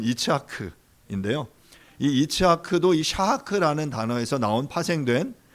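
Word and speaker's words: יצחק: 이삭의 이름의 이제 히브리어 발음은 이츠하크인데요.이 이츠하크도이 샤하크라는 단어에서 나온 파생된 그런 단어라고 말할 수 있어요.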